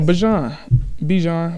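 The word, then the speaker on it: Bijan: Oh, Bajan. Bajan. Right? What is it? It's Bajan.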